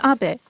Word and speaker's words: Abe: My name is Abbe. But in the United States, some people mistakenly pronounce my name as ape.